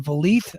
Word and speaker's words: Vliet: And Scott D'Amore was on Chris Van Vliet. I don't know how to pronounce his last Van name. Vliet. Van Van Vliet, Vliet. like Yeah. Greta Van Fleet, but Chris Van Vliet.